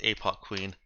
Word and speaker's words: ApocWhen: occasional references is that her name isn't spelled APO Queen it's pronounced APO Queen it's spelled cleverly APO